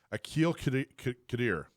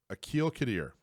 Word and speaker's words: Aqil Qadir: air, I'm going to ask you how to pronounce your name. Aqil Qadir. Aqil Qadir from Citizens Safety Academy.